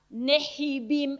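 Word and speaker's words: Nevi'im: Nejibim, eh, los e en hebreo se pronuncia neibim. ellos, la H para ellos no es muda, para nosotros sí es muda. Horacio, no decimoso, eh, sino que le sacamos la pronunciación. Para ellos, no, para ellos la h es importante.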